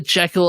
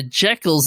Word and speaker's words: Jekyll: Jekyll and Mr.